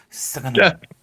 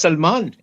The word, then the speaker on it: Salmaan: How do you say it? Is there several ways? It's like I used to. no, it's just Salman.